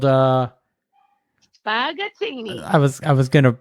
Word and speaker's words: Spaghettini: And you've got a regular gig there at a place called Spaghettini. I was gonna mispronounce it. I'm glad you said it. No, I know, because I did that because everybody they'd be like spaghetti-tini.